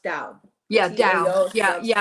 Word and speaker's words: Tao: is pronounced Tao.